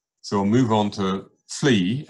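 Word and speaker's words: Fleys: So we'll move on to Fleay, F-L-E-Y-S, but pronounced as two syllables, Fleay.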